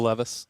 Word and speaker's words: Levis: When they had the ball backed up, Levis, or How'd you pronounce his name? Will Levis.